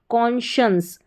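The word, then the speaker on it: conscience: कॉन्शियंस कॉन्शियंस। ये इसका उच्चारण है कॉन्शियंस।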